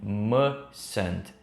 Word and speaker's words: mustn't: Muitas vezes você vai ouvir as pessoas falando mustn't, sem o T final. Muito comum isso numa linguagem mais falada, mas não é errado você pronunciar esse T final bem sutil.